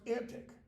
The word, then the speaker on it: antique: of the anti World antique Modern English was pronounced antic in Shakespeare's day so that it can